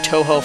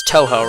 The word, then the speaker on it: Tohjo: on this journey through Toho Falls or Tojo Falls or however you pronounce it. Uh, I think it's Tohjo, right? Because Tohjo is you think of like the video game I think of like the video game franchise when I hear Tohjo and that is spelled